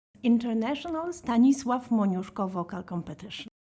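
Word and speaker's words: Stanisław Moniuszko: of your competition so we can avoid me mispronouncing it for an entire episode. International Staniswave Monosko vocal competition.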